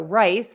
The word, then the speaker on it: rice: um rice and Rise so rice the food has an S sound at the end rise to go up